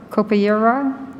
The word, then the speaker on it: capoeira: us, because it's a capoeira. Am I saying that right, Paula? Capoeira? Tell me how to say it. She's looking at me with great pity. Capoeira, thank you.